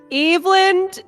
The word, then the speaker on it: Eland: Eland. Easy. Not hard for a child to read. Eve and land.